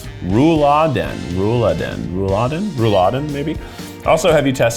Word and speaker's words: Rouladen: This is beef rouladen or rouladen.